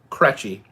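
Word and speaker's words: Krejci: get it right but my actual last name cretchy is unpronounceable from the spelling k-r-e-j-c-i is my last name i have gone my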